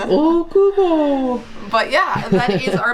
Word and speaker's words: Okubo: Okubo, that's how they say it on the announcements. Okubo.